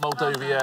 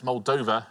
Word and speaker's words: Moldova: Yeah, well played, not Moldova, it's Moldova.